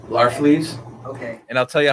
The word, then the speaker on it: Larfleeze: Agent Orange, how do you pronounce his name? Larfleeze.